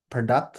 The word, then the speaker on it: product: It's not product, but it's product, so not you but ah.